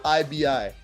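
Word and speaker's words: Quibi: you're talking about Qi qibi yeah I think it's pronounced quby it's basically the streaming platform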